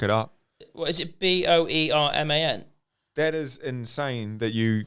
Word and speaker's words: Boerman: Boerman? That is insane that you got that straight away. Yeah, Boerman. Yeah, Boerman. Boar like boring.